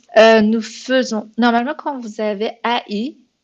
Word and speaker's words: faisons: C'est exactement la même chose, ça se prononce faisons. C'est comme si c'était écrit avec un seul E. Donc, c'est faisons, c'est pas faisons, c'est faisons.